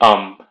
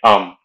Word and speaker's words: homme: And man would be homme. Note that in French, the H is silent. So you'd say homme.